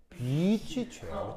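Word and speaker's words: beach chair: 여름에 해수욕장 가면 비치 체어라고 발음을 잘해. 비치 체어. 그렇죠? 이게 단모음 안 돼. 알겠어요? 예. 장모음이야, 장모음. 비치 체어.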